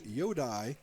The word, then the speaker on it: Yodai: I believe the correct pronunciation is Yodai, Y-O-D-A-I, Yodai Nakamura.